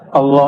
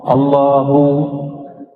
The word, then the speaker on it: Allah: Al Allah itu bukan dia lam ketemu lam. Allah harus disambung bukan mati Allah.